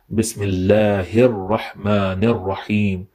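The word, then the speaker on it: بسم الله الرحمن الرحيم: So the correct pronunciation of this ayah is Bismillahir Rahmanir Rahim.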